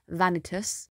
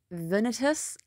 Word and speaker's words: Vanitas: into the pronunciation guide there's two different ways of saying it the lane i'm going to pick is the same lane that is pronounced in the anime and that is vanitas if you go and look online the pronunciation venitus and i don't like the sound of that i don't think it